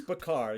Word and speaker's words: Bachar: Isn't it Bachar, Kevin? Yes, it's Bachar. Yes, thank you. He said... Anyway. Man, I am winning at the day today. Right? We're both doing well. Anyway, it's Kevin Bachar.